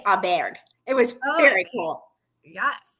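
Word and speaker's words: Åberg: I think I think they asked him on full swing how you pronounce it he said Ludvig Aber it was very cool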